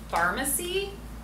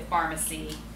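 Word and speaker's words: Farmacy: So the brand is called Pharmacy, spelled with an F-A-R-M, and it is the main ingredient in there is this patented form of echinacea called Echinacea Green Envy.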